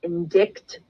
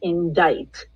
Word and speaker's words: indict: bold their indict I know everybody wants to pronounce it indict but it's not it is pronounced indict so it's you can't just say Oh mr.